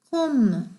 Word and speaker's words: comb: 자, climb, comb, thumb, bum 다 B가 발음이 안 되는 글씨들이죠.